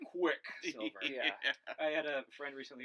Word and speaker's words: Quicksilver: Emphasis on the first syllable of that name, Quicksilver.